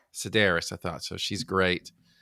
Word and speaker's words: Sedaris: Sedaris. Sedaris.